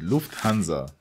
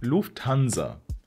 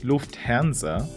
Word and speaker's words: Lufthansa: to the skies with Lufthansa say it as Lufthansa because when the letter s is at the beginning of a syllable like in the words hanza then we pronounce it Z not s that's why we don't